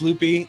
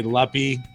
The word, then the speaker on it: Luppy: Yeah, the biggest reason was most people don't know how to pronounce Loopy. It's spelled Luppy, and everybody would say Luppy.